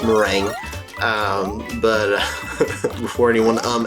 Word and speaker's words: Meringue: off we are in marangu clouds No I know that's not how it's pronounced it's mering um but before anyone